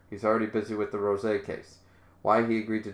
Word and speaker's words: rosé: that but yeah it's it's not the accent over the O It's Over the E so it's definitely Ros it's not meant to be pronounced Rose even they're showing roses